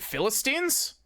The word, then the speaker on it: Philistines: Is it Philistines? Really? It still doesn't rhyme with guillotine. Browser fucking crushed. Last syllable does.